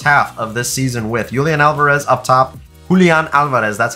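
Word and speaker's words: Julián Álvarez: Julian Alvarez up top. That's how you pronounce that.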